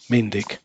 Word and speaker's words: myndig: So if you want to listen to the word, that how it is pronounced, you can also click here. Yeah, Mindig.